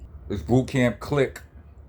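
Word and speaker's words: Clik: This boot camp click. Click is spelled C L I K.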